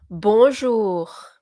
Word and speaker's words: bonjour: Bonjour.